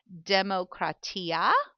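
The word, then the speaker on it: δημοκρατία: I believe it is pronounced demokratia. Demokratia. That's how I'm going to pronounce it.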